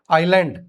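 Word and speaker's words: island: Raspberry हां लीची Raspberry आइलैंड एस E silent air आई लैंड butcher कसाई कैशल महल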